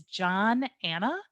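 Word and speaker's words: Johnanna: who i am so my name is john anna it's just two names put together and rhymes with banana so my name is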